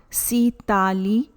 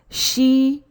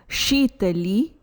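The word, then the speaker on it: Śītalī: Please note, the pronunciation is not Sitali Pranayama. Correct pronunciation is Shitali Pranayama. Shitali Pranayama.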